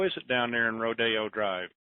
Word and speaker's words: Rodeo Drive: So I want to know why they don't call it Rodeo Drive, because that's how it's spelled.